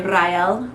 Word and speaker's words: Ryel: in my head is you would roll the r and say ryel or R um I